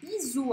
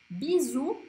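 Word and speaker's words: bisous: Então agora vamos à segunda palavra, bisu. Aqui eu coloquei no plural, né, com um S no final, que não se pronuncia. Bisu, ou em francês tem som de U.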